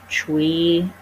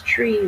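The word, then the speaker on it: chui: be the kidney which is uh c-h-u-i pronounced tree some of the books are more other spellings they may say c-h-r-e-e but it's pronounced chewy so you would direct your intention towards your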